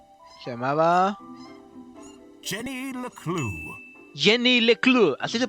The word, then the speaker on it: Leclue: Her name was Se llamaba Jenny LECLUE, Jenny LECLUE, así se pronuncia.